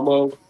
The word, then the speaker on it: Cuomo: What happened to Chris Kumo? What happened? I don't I don't know. Uh is it is it Kumo? Kumo. Kumo. It's Kumo. Quomo. Quomo. C U O M O. Quomo.